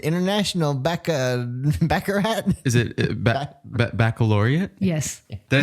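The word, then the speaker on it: Baccalaureate: second year of high school I couldn't even pronounce it International Bec backarat is it baloria yes did I say it right yes she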